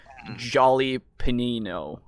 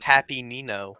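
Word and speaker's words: jalapeño: as the resident Hispanic, it is Jolly Panino. Okay. Oh yeah, that's what I said. Jolly Yeah. panino. Yeah. Anyway, Then how do you pronounce habanero? What? How do you Oh, pronounce that? hot Ben's Harrows. Yeah. Yeah. oh, Yes, I thought furiously writing down in my Spanish notebook. Thank you. I had Good. heard it was Happy Nino.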